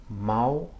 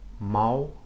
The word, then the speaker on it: mal: It sounds like the OW or the W at the end of the word cow in English.